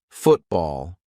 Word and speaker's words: football: When a syllable ends in T and it is followed by a consonant sound, we're going to use the glottal stop. For example, football. I'm not saying football. Let's play football.